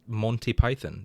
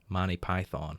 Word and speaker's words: Monty Python: guess i hate it i hate the way americans pronounce monty python i'm sorry monty monty python there's only one way to pronounce it no they pronounce it like money python manny python manny python that's just